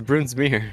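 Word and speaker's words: Brunsmeier: dominique uh bandit dominic bruns meyer broon smear this and i eye supposed to hit pronounce it bruin smear it's broon smear goodbye bruns meyer what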